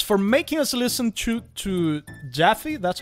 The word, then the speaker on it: Jaffe: Sean Pembroke for $6.99 says, it's for making us listen to Jaffe. That's how you pronounce David it.